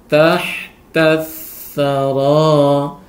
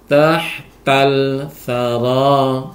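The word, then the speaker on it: تحت الثرى: maka alnya dimasukkan, sehingga cara membacanya tahta thara, tahta thara, tidak boleh tahtal thara, salah, tahtal thara.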